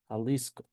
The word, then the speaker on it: Jalisco: So, for example, we have Jalisco that is pronounced pronounced in that way, Jalisco.